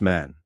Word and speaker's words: Men: In Mayan, men pronounced man exemplifies the eagle strongest, bravest, and wisest of all birds.